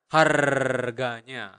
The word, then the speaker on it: harganya: Remember in Bahasa, you really pronounce the R, so you need to roll your tongue and make that sound. Harganya, harganya.